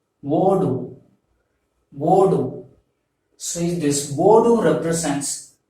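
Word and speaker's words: ஓடு: You have to pronounce this as wodu.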